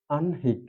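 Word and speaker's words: আহ্নিক: আননিক শব্দটি গঠিত হয়েছে কিন্তু মনে রাখতে হবে যে খয় ন অর্থাৎ হ যোগ ন ছিল কিন্তু উচ্চারণ হয়েছে ন যোগ হ এখানে হ আর যেহেতু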